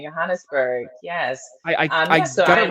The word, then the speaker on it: Johannesburg: Policing Bodies, Law, Sex Work, and Desire in it's Johannesburg, correct? Yes, that's the Afrikaans pronunciation, Johannesburg.